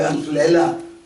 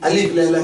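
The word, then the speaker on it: ألف ليلة: کتاب کا نام ہے۔ مشہور ہم الف لیلہ کہتے ہیں لیکن تلفظ جو ہے وہ عربی میں الف لیلہ ہے۔ خیر وہ الف لیلہ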